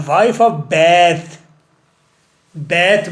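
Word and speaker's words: Bath: The wife of बैथ, बैथ बोलना है, pronunciation ठीक करनी है।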